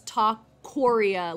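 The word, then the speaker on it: Tacorea: Like, it's not Taqueria like a Taqueria. It's Taqueria like Korea, the country.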